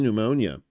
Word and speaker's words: pneumonia: five-week hospitalization for pee pneumonia. I know the pee is silent, but not when I pee.